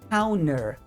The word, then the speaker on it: counter: de pronúncia olha só a palavra cer na verdade se escreve Counter tá eh o no inglês americano a gente geralmente não pronuncia o t depois de um N A não ser que esse T seja a sílaba tônica daquela palavra tá então mais um motivo